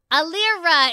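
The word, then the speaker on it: Elira: Alira is back. Jeez, man, I kept pronouncing it.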